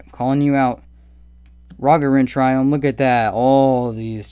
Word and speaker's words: Triome: I know Bad Boy Gaming says Triome. He wrong. Alright, he wrong. That's not how you say it. It's Triome. Same as Biome.